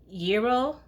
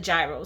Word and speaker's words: gyro: this gyro shop okay I believe it's pronounced yo I believe but I grew up in New York I grew up in Brooklyn and all my life it we've just called it gyro so yeah so please